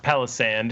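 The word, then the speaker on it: Palossand: I am preternaturally excited about Palisand, and I also think that it's pronounced Palisand because that sounds like the word palace.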